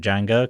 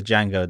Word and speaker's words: Django: what she ain't say Django thinks about a DJ a and geo and it says the D is silent and the guy says